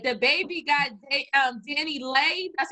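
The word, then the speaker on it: DaniLeigh: jaw surgery all right the baby got um danny lay that's how you say her name um she's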